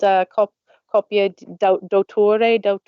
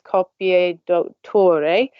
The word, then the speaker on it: copia d'autore: It's called copia d'autore. That was very badly pronounced. In Italy, they do it as copia d'autore, and one very popular